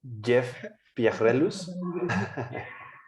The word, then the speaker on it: Pierrelus: Pues yo les presento al doctor, a ver si puedo pronunciar correctamente su nombre, Jeff Pierrelus.